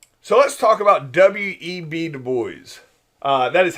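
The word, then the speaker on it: W. E. B. Du Bois: a problem all right so let's talk about w.e.b du bois uh that is how you pronounce that it's not webbed boys it's w.e.v du bois he is the first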